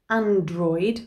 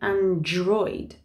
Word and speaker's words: android: or an android phone we don't say android we say android and last but not